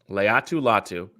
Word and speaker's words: Laiatu Latu: How is it pronounced? Laiatu Latu.